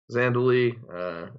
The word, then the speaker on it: Zhandaly: right yes it's a Zandu Lee and then it's got an H it's strange the H is silent but yeah so it's